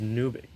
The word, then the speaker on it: nuic: against each other uh nuic is pronounced or yeah mqq is pronounced nuic um apparently his name was